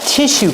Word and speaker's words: tissue: Make the sh sound like fish.